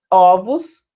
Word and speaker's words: ovos: Ovo, fechado, ovos, aberto. Osso, fechado, ossos, aberto.